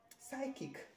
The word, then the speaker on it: psychic: phenomenon okay it is this one looks like chick but it is psychic this one is not